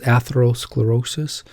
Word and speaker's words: atherosclerosis: had enough of it so here it is atherosclerosis pronounced path hath her o sclerosis atherosclerosis Carleton which is a nice he's a good